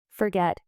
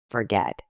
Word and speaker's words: forget: Forget. Say it. Forget with stress on the get syllable.